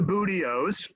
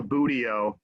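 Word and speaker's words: buteo: hawks from cooper's hawks these are the booty-o's and that is that is how you pronounce that word it's a very goofy word in the in bird circles uh it's called a budio and the broadway hawk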